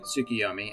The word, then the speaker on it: Tsukuyomi: or as many of us americans say them amaterasu tsukiomi and susano more than likely you've heard all